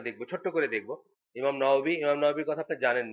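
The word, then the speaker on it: نووي: নওয়াবী, এটাতে যেহেতু ওয়াওয়ের উচ্চারণটা আমাদের দেশে অনেক সময় ব বলে বলে, এই জন্য নওয়াবী বলে আর কি, নাওয়া থেকে নওয়াবী আসছে আর কি।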